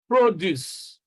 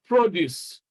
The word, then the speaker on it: produce: So you can see that nouns are stressed on the first syllable. I mean, two-syllable nouns are stressed on the first syllable, and two-syllable verbs are stressed on the second syllable.